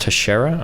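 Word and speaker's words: Teixeira: South Korea and Israel I think it's pronounced Tashara okay the league has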